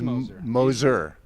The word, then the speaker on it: Moser: props you're one of the first people to pronounce that right so it is Moser we put an H in there for some